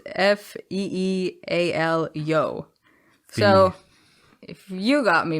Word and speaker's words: Fialho: a comment that says andre filario is pronounced f-e-e-a-l-yo so if you got